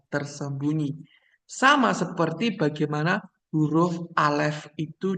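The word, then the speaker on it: אלף: diucapkan dan bagaimana sebenarnya huruf alif itu ucapannya itu bisa hilang gitu doang ya gitu ya tipis tapi juga juga bisa alef begitu ya tapi dia soft pengucapannya itu bukan pengucapan yang Strong dan dia itu huruf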